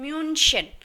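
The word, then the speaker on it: München: म्यूनिक जो है एक इंग्लिश वर्ड है, मगर जर्मन लैंग्वेज में डॉइच भाषा में उसे कहा जाता है म्यूनशन।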